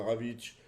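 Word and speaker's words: Rawicz: Puis autre Ravic. Ravic ça s'écrit R A W I C Z.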